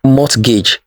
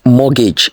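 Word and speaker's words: mortgage: T is also silent it is not mgage it is morgage the tea is silent next this is not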